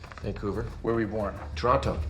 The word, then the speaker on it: Toronto: where were you born Toronto Toronto Canadians don't pronounce the T some com guard is